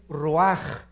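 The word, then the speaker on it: רוּחַ: Neph se pronuncia nepej porque la ch en hebreo es nepeg y la palabra espíritu es roaj. Se escribe ruach.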